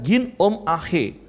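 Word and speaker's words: γίνομαι: Nah, bahasa Yunaninya adalah ginomai. Kalau pelafalannya ginom ahe.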